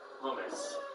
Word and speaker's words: hummus: the correct pronunciation there hummus what what do people think hummus and it's not hamas no pretty clearly so